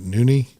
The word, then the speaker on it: Nune: And you pronounce that Nuni.